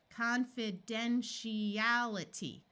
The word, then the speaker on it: confidentiality: to note is that when we divide between an I and another vowel the I usually has a long e sound so let's switch from a long I to a long e here and remember that to that this T is going to say sh confidentiality confidentiality there we